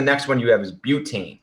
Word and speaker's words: butane: And then the next one you have is butane. So basically the prefix is but, or it actually pronounced bute. So not butane, butane.